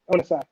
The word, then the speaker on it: Onosai: Alaska says, "Hey, Onasai is how you say his name.